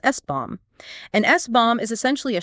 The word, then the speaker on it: SBOM: of the software bill of materials or SBOM, pronounced SBOM.